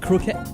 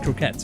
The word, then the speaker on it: croquette: curry croquettes okay dip croquette there how do you pronounce that it's not croquet it's croquettes right there are some things